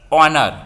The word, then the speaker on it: honor: n s t we don't start with this pronunciation is honest the o honest vowel sound so h is here given silent honor what honor our in such cases we use